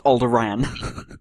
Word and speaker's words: Alderaan: And he was like, oh, Alderaan. And you were like, no, it's Alderaan. That's how it's pronounced.